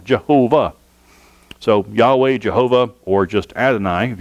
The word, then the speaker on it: Yahweh: H the Hebrew letters yhw H you can pronounce it Yahweh yhw H yaha waha yah Hawaii or you